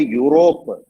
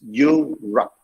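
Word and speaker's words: Europe: me okay next is don't say europa it's you rock you rap e-u-r-u-p sallam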